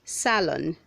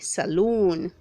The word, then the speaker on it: salon: Say salon, don't say saloon.